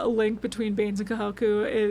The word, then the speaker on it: Kahoku: order and actually talked to Kohaku or Kahoku. I keep saying it wrong. Kahoku, not co I keep saying it like backwards.